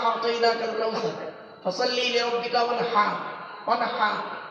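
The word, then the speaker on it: وَانْحَرْ: ওয়ানহার এই গলার ভেতর থেকে এটা উচ্চারণ হবে, ফাসাল্লি লিরাব্বিকা ওয়ানহার।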